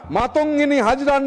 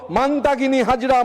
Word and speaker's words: মাতঙ্গিনী হাজরা: জন্য প্রাণ দেওয়া বীরাঙ্গনা মাতঙ্গিনী হাজরার নাম বিকৃতি করে উচ্চারণ শুরু হলো মান্তাগিনী হাজরা, মান্তাগিনী হাজরা।